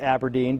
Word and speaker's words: abrdn: You see, Aberdeen used to be called Standard Life Aberdeen, but in 2021, they changed their name to ABRDN, which they insist is pronounced Aberdeen.